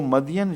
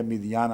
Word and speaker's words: مدین: تلقاء مدینہ، جب وہ مدین شہر کی طرف، قرآن کریم اس کو مدین ہی لکھتا ہے، اس لیے میں بھی مدین ہی پڑھتا ہوں، مگر بائبل میں اس کا تلفظ مدین یا مدیان آتا ہے۔ جب وہ مدین